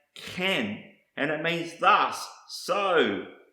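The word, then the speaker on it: כן: next word I want to show you is pronounced can and it means thus so it was so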